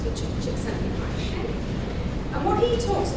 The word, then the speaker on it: Csikszentmihalyi: There's a psychologist who basically is called Csikszentmihalyi. His name is spelled in a way that you wouldn't understand that that's how it's pronounced, but Csikszentmihalyi.